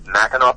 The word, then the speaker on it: Mackinac: And just for readers, or just for listeners who aren't familiar with the spelling and pronunciation, it's spelled with an AC but pronounced AW, right?